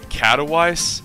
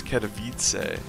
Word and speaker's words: Katowice: I always think is catalyzed as an American I see the name and just think it's pronounced catalyze but for several years I've known better but for like the first one it's like I am always yes I am catalyzed no no it's Katowice okay plus one attack as